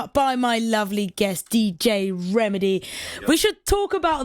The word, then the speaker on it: Rehmidi: So Rehmidi, and the way that it's spelt refers to my Moroccan family.